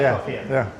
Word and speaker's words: Gladkoff: Got Michael Gladkoff, is that how you say it? Yeah, that's right, Gladkoff, yeah.